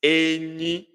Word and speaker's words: enyi: It is Enyi, Enyi, Enyi, high, high. Enyi, elu na elu.